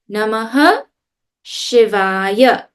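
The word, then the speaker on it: Namah Shivaya: When you see the two dots in the middle of a word, we don't actually pronounce it fully. We'll get to that when we do the chanting. I mean, that's in chanting class, but in here, if you see it, you say it. Namaha Shivaya.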